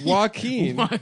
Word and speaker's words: Joaquin: Joaquin? Mm-hmm. Joaquin? Joaquin Noah? Yeah. Joaquin Phoenix? Do you really not know? It's Joaquin.